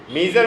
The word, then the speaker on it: measure: মেজার মানে কি?